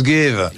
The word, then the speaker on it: Gave: vu votre nom écrit, j'ai cru que ça se prononçait Charles Gave. Bien sûr. Que c'était anglais. Et en fait, c'est un nom parfaitement français, c'est le Gave, ou Gave, G-A-V-E, ça n'a strictement rien d'anglais. Rien à voir avec l'anglais. C'est jamais, ne prononcez pas l'anglais, s'il vous plaît.